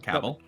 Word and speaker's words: Cavill: It's pronounced Cavill.